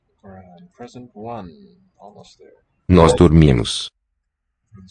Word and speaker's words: dormimos: Nós dormimos. The spelling is just like Spanish, but us Dormimos. final syllable. And how does the R sound? Nós dormimos. Here it's a r, a trill.